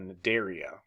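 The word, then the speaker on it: Cnidaria: make up the phylum I think it's uh naderia like the sea is silent uh segmented worms analeda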